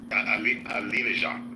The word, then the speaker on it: Alinejad: Alinejad, right?